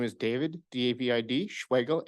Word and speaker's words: Schwegel: My name is David, D-A-V-I-D, Schwegel, S-C-H-W-E-G-E-L. It's spelled like Schwegel and rhymes with bagel.